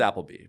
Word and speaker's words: Appleby: It's pronounced Appleby, but I'm Appleby across most of the platforms.